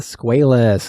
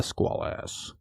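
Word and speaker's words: Squalus: So throughout the movie, the name of the sub, as I said, was mispronounced. It was actually the Squalas, not the Squalas.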